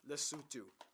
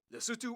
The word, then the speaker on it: Lesotho: Oh, by the way, this country is pronounced Lesotho. Lesotho. Okay. Lesotho or Lesotho.